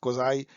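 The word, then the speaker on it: quasi: सेमाई भी इसको पढ़ते हैं अमेरिका में, क्वाज़ाई एंड सेमाई, ये जो है अमेरिकन प्रोनाउंसिएशन है, मैं पिकअप करने की कोशिश कर रहा हूँ। तो इसको आप इंडिया में हम लोग क्वाजी बोलते हैं, लेकिन क्वाज़ाई, तो क्वाज़ाई फेडरल।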